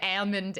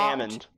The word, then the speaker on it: almond: That's not Almond. true. It is. Did they say the L? No, my almond. aunt is from Oklahoma and says almond. Almond. Almond. The L is silent.